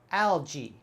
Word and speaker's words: algae: that totally different though algae algae algae there is algae growing on the rock algae so here the al is still al but the gae is just like a j-e-e sound algae algae the last word